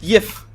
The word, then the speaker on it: GIF: gif on there and it says pronounced jiff yeah that sounds like